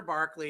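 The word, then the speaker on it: Berkeley: So Governor Barkley, as I said, that's how they pronounce it, would not retaliate against Indian attacks because he had his own deal going on.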